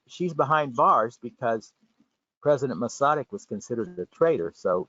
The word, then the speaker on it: Masaryk: So as we heard, Alice Garik Masaryk, the daughter of President Masaryk, and I'm pronouncing it correctly because my mother was born